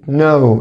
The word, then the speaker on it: know: اللي بعدها كلمة know الكي هنا silent حبايبي، تاني حرف الكي silent.